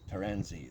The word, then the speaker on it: Taranzy: box and the saw it actually is pronounced tarzani taransi taranzi that's it transit like i said